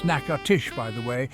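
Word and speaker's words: Natchitoches: naoshi Louisiana for the naoshi Christmas festival that's pronounced narsh by the way not nachet OES named after a Native American tribe naoshi is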